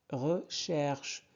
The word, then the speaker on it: recherche: Moi, je recherche, CH se prononce ch, recherche, surtout l'action et l'émotion.